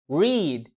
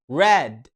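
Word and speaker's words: read: مفتوح واخيرا الفعل يقرا الفعل ده رخم شويه عشان التصريف الاول بيتكتب نفس التصريف التاني والتالت اه بس النطق بتاعه مختلف عنهم التصريف الاول بينطق ريد الصوت المتحرك اللي اسمه وده عامل زي مد ليه عندنا اي فتبقى انما التصريف التاني والتالت بينطقوا راد الصوت المتحرك اللي فيهم شورت اي وانا لسه قايل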